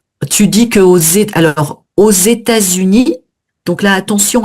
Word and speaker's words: aux États-Unis: C'est une liaison qui est obligatoire parce qu'on a un tiré entre les deux et ça change vraiment à lois aux États-Unis.